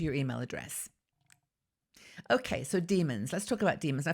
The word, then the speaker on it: daemon: email address okay so demons let's talk about demons I first of all the spelling is da e M o n so it's not like demon pronounce the same way but as I said